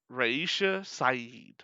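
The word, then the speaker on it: Raisha Saeed: uh it is uh uh it is uh reisha saeed oh yeah fun fact about her she is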